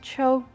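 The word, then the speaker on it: 秋: is john second character is autumn which pronounced as cho so so the first part i wrote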